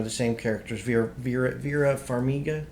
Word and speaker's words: Vera Farmiga: same characters via vera vera farmiga is how you pronounce her name she is uh she's